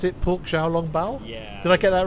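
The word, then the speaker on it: xiaolongbao: And he Really said that I should go for the, how do you pronounce it, pork xiao-long bao?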